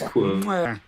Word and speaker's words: Cuoco: to say her name, Cuoco or just Coco, like I'm drinking hot cocoa. Is that her? Coco? It is Quo.